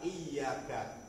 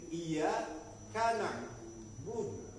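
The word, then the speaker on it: إِيَّاكَ نَعْبُدُ: Yang benar adalah iyaka iyaka. Iyaka bisa na'budu iyaka hanya kepada engkau na'budu kami beribadah. Tapi kalau kita membacanya misalkan kita gabungin iya kanaudu. Kanaudu ini sudah beda artinya Pak'budu seperti kami beribadah.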